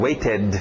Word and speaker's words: waited: Passado regular, ED, e o pronúncio do ED mesmo, waited, ou rápido na garganta, waited, waited.